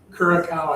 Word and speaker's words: Curaçao: So, the C has a little little Yeah, that little mark down there? Yeah, that's what pronounces it as an S.